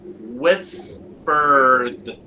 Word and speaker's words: whispered: So notice this word, for example, whispered. Notice how it is spelled. Whispered. Whispered. Whispered. This is the rhotic schwa. So the rhotic schwa sounds like whispered.